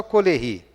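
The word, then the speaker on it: Caullery: Ele fala só Coleri, né? que escreve-se dessa forma com a pronúncia francesa.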